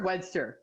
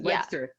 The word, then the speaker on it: Webster: Webster or Wedster? Did I say it right? That's Webster. Yeah.